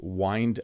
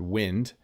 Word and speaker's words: wind: a good idea to wind up the cord now notice this looks a lot like the word wind so it's one of those words words that has two meanings and two pronunciations but when I'm done